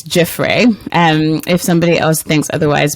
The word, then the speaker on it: Giuffre: Giuffre. I've said it wrong. Damilola, how am I supposed to say that name? Well, I'm humbly submitting it's Giuffre.